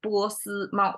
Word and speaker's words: 波斯猫: Okay, so when we talk about 波斯猫, when we pronounce it, it's 3 flat tones, and it's not that common because at least we have 4 tonations, right?